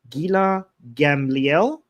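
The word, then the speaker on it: Gila Gamliel: Gila Gambliel pronounced properly right?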